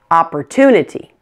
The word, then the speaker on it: opportunity: technology one more opportunity 5 syllables in this one ah / - neti opportunity the suffix is ity so stress is on toon opportunity now here's your quiz